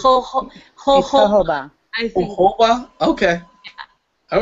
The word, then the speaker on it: jojoba: Jojo Ba, whatever it is. Jojoba? Okay. Sherry Ann is putting H's on it. So yeah, It's jojoba. I think. Jojoba?